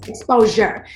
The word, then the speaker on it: ExposHer: Okay, so like the shirt say, it's spelled ExposHer, right? But it's exposure.